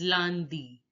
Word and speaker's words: lundi: Monday is pronounced as lundi. Lundi. Lundi.